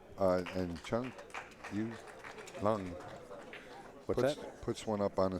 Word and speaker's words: Chang Yu Lung: pronunciation of their names, and that's the way he said it. Chang Yu Lung.